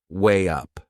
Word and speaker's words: weigh up: before making a decision there is another linking sound in that phrase to weigh up way up can you hear it we insert a little Y sound my next word is